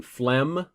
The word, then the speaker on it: phlegm: got a j sound ph sounds like f as in phlegm okay um let's see